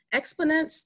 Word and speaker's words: Xponance: Petroleum and board member of the private company, Xponance. Did I pronounce that correctly?